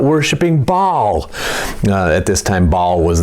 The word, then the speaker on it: Baal: supposed to be worshiping God and not worshiping Baal. At this time, Baal was the idol that they were worshiping. That's spelled B-A-A-L.